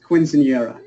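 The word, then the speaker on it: quinceañera: I had K practice it's pronounced quincenera so you're wrong and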